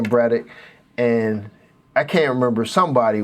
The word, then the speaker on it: Braddock: And his last name is pronounced Braddock, like a UCK sound. And I'm like, oh, okay, that makes sense. So then I started saying Braddock, and I can't remember,